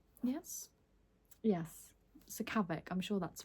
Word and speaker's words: Sakavic: And finally, we have a book that I've actually read, and this is The Foxhole Court by Nora Sron Pronunciation. Sakavic. Yes. Yes. Sakavic.